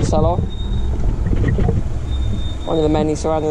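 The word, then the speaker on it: Salò: S-A-L-O it's spelled, but with a little accent. So it's Salo.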